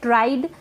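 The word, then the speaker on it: tried: Next है ट्राइड, इसको ट्रिड नहीं पढ़े, ट्राइड।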